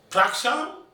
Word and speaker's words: Prakasam: He said, Prakasam? He said, no. It's Prakasam. Oh, stress on the second syllable.